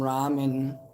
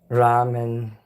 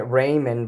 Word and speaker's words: ramen: Ramen. I was pronouncing it Raymond, but Dylan says it's not the right way to pronounce it.